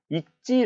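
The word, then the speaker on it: 읽지: 않아 써 있지 않았어 사실 얘는 일지 라고 발음 잘 못하는 경우도 많은데요 사실 얘는 이찌 라고 발음을 해야 맞습니다 때문에 얘는 뒤에 둘째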